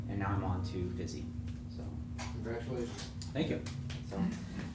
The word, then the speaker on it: Physi: So this is Physi, pronounced Physi.